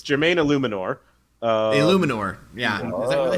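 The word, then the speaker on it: Eluemunor: It's Jermaine Illuminor. Illuminor, yeah. Is that really how it's pronounced, or are you just guessing?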